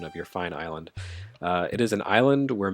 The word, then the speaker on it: Islay: It is a gin produced on Isla, I think is how it's pronounced, or Ayla. I can't remember. It's Scottish, so it's spelled I-S-L-A-Y. You'd think Islay, but no, it's Scottish.